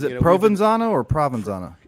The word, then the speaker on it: Provenzano: Provenzano or Provenzano? It is Provenzano. Forgive me, I am used to saying Provenzano, but Provenzano is the correct pronunciation.